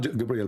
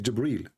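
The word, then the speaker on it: جبريل: It's not Gabriel, by the way, it's Jibreel.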